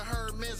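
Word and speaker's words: Hermès: Still call it Hermes, I know the H is silent.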